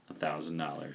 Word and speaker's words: X: 10 can I have the iPhone x 10 it's pronounce 10 can I have it